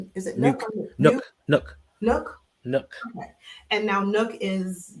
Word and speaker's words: Nuk: to kill my vibe now how do you pronounce the nuk name is it no Nook Nook Nook and now Nook is DeAndre Hopkins yes